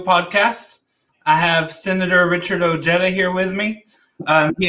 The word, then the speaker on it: Ojeda: you know you know my last name is actually pronounced ojeda so uh you know